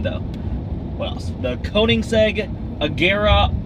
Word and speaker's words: Koenigsegg: It's not Koenigsegg, it's Koenigsegg.